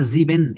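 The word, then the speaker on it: sieben: should যেটা রিস্টিজ ডয়েস তো এখানে জার্মানরা যেভাবে উচ্চারণ গুলো করে আমরা ওইগুলা ট্রাই করবো ওরা জিবেন এরকম টেনে টেনে বলে না হ্যাঁ লাঞ্জাম বলে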